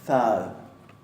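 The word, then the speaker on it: það: Y después tenemos thad. Fíjense que ahí tenemos dos interdentales, una sonora y otra sorda.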